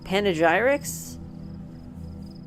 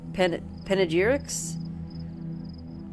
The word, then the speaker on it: panegyric: up wills, and the inscriptions on monuments and panegyrics? Panegyrics? What does that mean? Penicillin? Panegyric. Panegyric. Panegyric. Okay, well, I got the pronunciation correct.